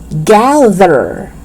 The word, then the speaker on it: gather: Gather. It's not gather. So don't make the mistake of pronouncing TH as D.